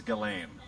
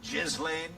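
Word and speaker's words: Ghislaine: He has a nickname for everybody, but he perfectly pronounces Galain. Crooked Hillary, sleepy Joe Biden. He could have Jizlane.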